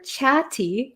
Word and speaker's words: chatty: um by the way the pronunciation here for chatti chatti so there's two T's here and they're kind of sandwiched in between an A and A Y so we have these